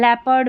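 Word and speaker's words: leopard: देखिए पीपल में इ ओ है। इसको बड़ी ई के रूप में पढ़ा जा रहा है। लेपर्ड में अ की ध्वनि दे रहा है।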